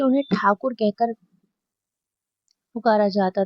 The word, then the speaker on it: ठाकुर: British शासन में उनके उपनाम का उच्चारण गलत करके उन्हें टैगोर कहा गया। मतलब उनका कुछ ठाकुर कहते थे। उनको गलत कहते कहते वो टैगोर पड़ गया।